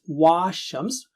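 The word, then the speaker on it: والشمس: Please note, don't recite this one as wa-Shams because the alif after waw is not alif, it's a temporary hamza. So we just say wa-Shams.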